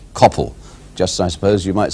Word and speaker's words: Coppell: He says that in fact it should not be Coppell, but Coppell, as in hell.